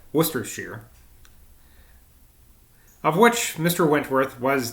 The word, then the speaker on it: Worcestershire: bridge and versus worst worcestershire have i been pronouncing that wrong i think i have worcestershire of which mr wentworth